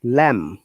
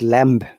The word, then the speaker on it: lamb: to be consistent okay b is silent uh at the end of these words if there is m before it this is one of the another amazing rules like lam not lamb okay boom not bomb